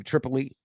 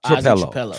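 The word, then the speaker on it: Trapilo: This name Tripoli. How are you pronouncing it? No, Trapello.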